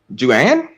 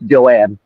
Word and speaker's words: Joanne: Judy I'm just saying Joanne Joanne yeah Joanne okay okay it felt like Joan but it's Joanne okay Joan is way